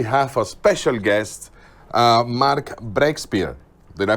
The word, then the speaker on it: Breakspear: people today we have a special guest mark brexpert did i pronounce that correct this time yes this time